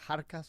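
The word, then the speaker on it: Xarkas: was uh from gurupo kharkas spelled with an x x j a r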